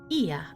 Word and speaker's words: Ia: When the vibration of vocal fold was still required to convey our thoughts and intention, Ia, I believe, was the pronunciation used when referring to our people.